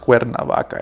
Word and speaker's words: Cuernavaca: And Cuernavaca, it's pronounced Cuernavaca in Spanish, right?